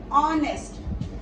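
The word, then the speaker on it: honest: word और है ऑनेस्ट अब स्टार्ट हो रहा है एच के साथ बट जो साउंड आ रही है ओ ओ की साउंड आ रही है ऑनेस्ट ऑन जो एच है वो आपका साइलेंट है और ओ इसके अंदर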